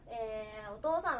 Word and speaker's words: お父さん: さんがね、他の人の、お父さんのことね、お父さんって読みます。